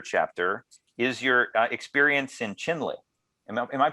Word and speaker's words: Chinle: beginning of your chapter is your experience in Chinle. Am I pronouncing that correctly? Chinle, yes, Arizona? Yes, yeah. Chinle.